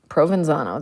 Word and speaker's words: Provenzano: Provenzano. That's how I pronounce it.